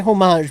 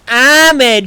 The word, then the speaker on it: homage: too many Outlaws yes I say homage because amage sounds awful I think it's pronounced both don't give a might be yeah I'm saying you could pronounce I'm okay I'm saying you can pronounce it either okay tomato tomato homage homage I believe technically it's homage but who the cares really Star Trek question of